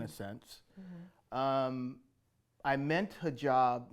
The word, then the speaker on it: hijab: I'm here today with Eric Smith-Gunn, creator of Hijab.